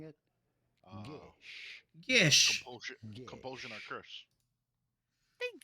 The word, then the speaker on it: geas: go Celtic about pronouncing it? Gish.